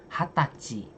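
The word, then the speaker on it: 二十歳: Tapi cara bacanya memang khusus gitu loh. 生年月日 Senengappi tanggal lahir. 20歳 Hatachi 20 tahun usia 20 tahun hatachi.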